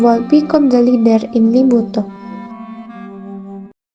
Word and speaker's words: Limboto: Since then, the Tupalo spring that has turned into a lake was the name Pulalo Lalimuto, now pronounced Lake Limuto.